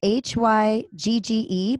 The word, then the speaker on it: hygge: So it's spelled H-Y-G-G-E, but it's pronounced Hygge.